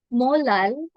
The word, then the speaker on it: molal: mity which is 2.8 molal okay note that we pronounce the small M as molal or we can also